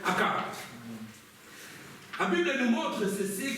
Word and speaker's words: Achab: c'est la même chose parce que la prononciation grecque ch on le connaît c'est k et en français ch on le dit chat vous pouvez dire à chat ou à k peu importe all mes frères et sœurs mais moi je pense voirci la prononciation grecque akab la Bible nous montre